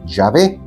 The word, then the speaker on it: Yahvé: Algunos dicen que el nombre, modernamente hablando, es Yahvé. Otros, Yahweh. Otros, erróneamente, siguen diciéndole Jehová,